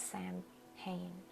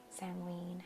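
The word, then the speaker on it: Samhain: I saw it was Sam Hayne Sam Wayne Halloween however you prefer to pronounce that wonderful time and so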